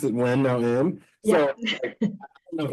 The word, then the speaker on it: Nguyen: how you pronounce your name I pronounce it when no n you pronounce it when no n so I don't know if anyone's Vietnamese that's